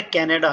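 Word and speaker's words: カナダ: दोस्तों, 9 नंबर पे कनाडा है। कनाडा को कानाडा, कानाडा। अच्छा, जापानीज में डा प्रोनाउंस नहीं होगा बल्कि दा प्रोनाउंस होगा, कानाडा।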